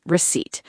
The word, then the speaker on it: receipt: And word 6, receipt. R-E-C-E-I-P-T. The small paper that shows what you bought. The P is silent.